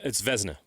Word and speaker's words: Vezina: By the way, we got corrected on the pronunciation of the Vezina Trophy. It's Vezina. Vezina. Sorry. Vezina Trophy. I apologize to the longtime hockey fans here. That was my bad. It's Vezina.